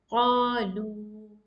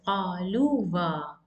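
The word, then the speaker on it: قالوا: And here, when you say qalu, you cannot pronounce this alif. It's totally wrong. So this is qalu. You cannot pronounce as qaluwa. This alif does not have any sound here.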